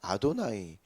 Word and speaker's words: 아도나이: 이렇게 기록을 하지 않습니까 그리고 히브리인들은 여호와라고 읽지 않습니다 아도나이 아도나이를 번역을 한 거죠 하나님이 이름이 등장을 하면이